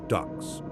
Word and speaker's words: DUKWs: Each ship carries approximately 600 men, soldiers of the fourth infantry division, engineers, medical personnel, plus 22 amphibious trucks, DUKWs, pronounced ducks, and numerous other vehicles, all fully fueled, all loaded with ammunition.